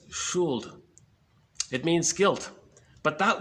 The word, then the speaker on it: Schuld: I think it's pronounced Schuld, S-C-H-U-L-D. Looks like should, but it's Schuld.